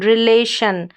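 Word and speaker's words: relation: अगला कोड है हमारे पास शन। टी आई ओ एन। इसको हम शन पढ़ेंगे। जब यह किसी भी बड़ी-बड़ी स्पेलिंग्स में लास्ट में आता है। जैसे कि यहां पर सबसे पहले स्पेलिंग है री ले आर ई को री फिर ले एल ए और फिर शन रिलेशन क्या है?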